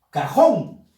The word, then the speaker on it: cajón: Ahora, cajón. Cajón. Fuerza de voz en la sílaba jón.